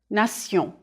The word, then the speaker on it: nation: The French pronunciation is nation. Repeat, nation. If you know that the endings T-I-O-N and S-I-O-N are pronounced sion in French, you won't have much trouble understanding these French words.